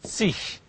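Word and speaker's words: zig: The suffix is sich. sich. The G at the end is pronounced like 20.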